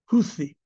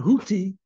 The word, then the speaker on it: Houthi: Houthi. That's well, it's spelled TH. They're not Houthi, but Houthi.